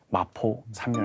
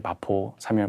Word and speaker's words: 마포 삼열: 당시 3.1운동을 주도했던 하나의 미랄이라고 표현되는 마포 삼열 목사입니다. 사무엘 마펫이에요. 그래서 이제 사무엘이기 때문에 삼열이고요. 당시 목사님을 마펫이니까 저 F 발음이 어렵잖아요. 그래서 마포.